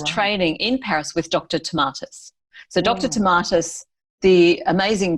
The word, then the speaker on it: Tomatis: And there was a chapter there about your mother and her work with the Tomatis method. And I don't know if I pronounced that correctly, but I may have. Yep, Tomatis.